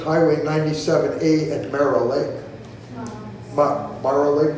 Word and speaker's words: Mara Lake: Mara Lake, did I pronounce it? Yeah.